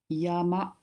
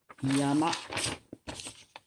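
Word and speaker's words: 山: And a mountain, you pronounce it Yama. Yama. Yama.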